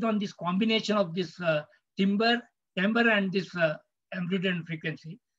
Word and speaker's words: timbre: It is written as timbre, but it's pronounced as timbre. It's a French word.